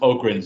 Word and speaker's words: Ogron: sean what do the daleks uses guard dogs ogrons there you go it's pronounced ogrins and they're in 40k doctor who stole it